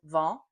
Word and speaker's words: vent: But if you don't hear the difference between vent, which is wind, vont, which is go, and vin, which is wine, and if you can't pronounce those correctly, you're probably having a hard